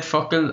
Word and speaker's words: focal: interruption for people listening, when I said fuckle, I was not cursing. Fuckle is the Irish word for word, and it's spelt, I guess it's spelt like focal in English, so Focal.